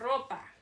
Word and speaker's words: ropa: Ropa. Notice I roll my R's. In Spanish, when you have an R at the beginning of a word, or when there's 2 R's together, you roll your R.